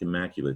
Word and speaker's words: immaculate: And it sounds like immaculate. It's got a silent E too. We're just talking about that. But it's not late at the end.